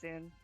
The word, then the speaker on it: ZUN: a copyright strike yeah his name you pronounce it zun right yeah it's soon like zuma's not gonna copyright strike